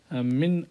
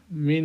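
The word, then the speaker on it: مِنْ: খেয়াল করি, এক নম্বর প্রশ্ন, মিন আইনা আন্তা, এখানে মিন হবে, অনেকে ভুলে এটাকে মান উচ্চারণ করতে পারে, মান আয়না হয় না, মিন আয়না, কোথা থেকে, যে মিন আয়না আন্তা, তুমি কোথা থেকে।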